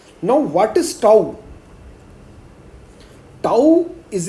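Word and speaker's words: τ: Topological space में हम x, d की जगह यहां पर आपको एक लेटर दिख रहा है इस तरह से, इसको हम प्रोनाउंस करते हैं टाउ, ओके।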